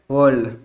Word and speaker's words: whorl: अब ये कैसे वॉल के फॉर्म में प्रेजेंट होते हैं।